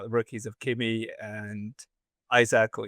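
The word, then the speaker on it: Isack: I think a lot of people are talking about the rookies of Kimi and Isaac or Isaac. I think Isaac is how you say it actually.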